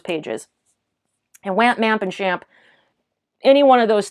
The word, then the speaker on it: XAMPP: That's XAMPP. That's like the one I do really know how to pronounce properly. Some people say XAMP, but I learned it's SHAMP.